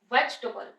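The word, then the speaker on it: vegetable: आ जाएगा veg double पहले इसको बहुत ध्यान से प्रोनाउंस करेंगे वेजटेबल वेजटेबल double stubble वेजटेबल अब प्रोनंसिएशन के बाद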